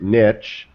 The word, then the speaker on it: niche: It's not spelled with a T. It's not number 2. It's not N-I-T-C-H. It's French. It's Francais as niche. Niche. Exactly. Yeah. This is America. Right, Brad? That's niche. right. Brad? Yes. Right. Right. It doesn't rhyme with bitch.